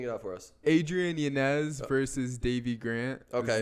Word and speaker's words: Yanez: it's Adrian Yanez. That's how we should pronounce it.